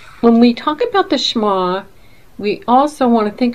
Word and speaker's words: Shema: And it is spelled S-H-E-M-A, and that's the name of the ministry, Shema.